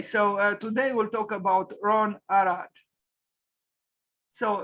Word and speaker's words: Ron Arad: today we'll talk about Ron arat so Ron Arad with a pronunciation in Hebrew he was born on